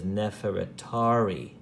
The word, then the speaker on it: Nefertari: neverett uri neverett theory or we pronounce it as Nefertari neverett re see how it divides eery re just it's pretty much the same we pronounce it differently so Nefertari which means